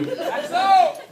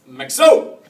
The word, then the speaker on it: Maxo: I could relax," or "Maxo," accent on the O.